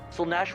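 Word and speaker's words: Slaanesh: That's Fucking pronounced Slanesh is the Zeech?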